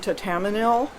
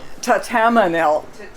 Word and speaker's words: Thatamanil: Tatamanil. ThatamaniL.